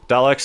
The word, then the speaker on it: Daleks: Daleks is how it's pronounced.